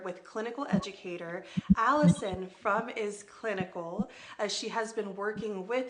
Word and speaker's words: iS Clinical: two and so I have confirmed it is pronounced is clinical because it is clinical and I love that